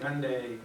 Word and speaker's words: Hyundai: think Hyundai rhymes with Sunday.